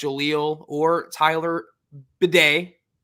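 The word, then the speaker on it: Badie: in their pronunciation guide pronouncing it b d b a yde you know phonetically the Hooked on Phonics thing all right that's because that's how he said his name it's recent that he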